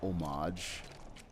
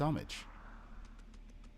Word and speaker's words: homage: the the Americans you Americans have messed up pronunciation a for me so much it's not omage it's it's homage you pay amage not much right and the